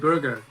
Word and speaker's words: Burger: pronounce your last name is it burger or B it burger just like hamb yeah yeah well exactly